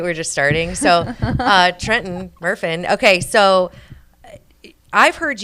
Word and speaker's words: Trenton: How do you pronounce just it? you? Okay. But, no, it's Yeah. it's Trenton. Trenton, Yeah.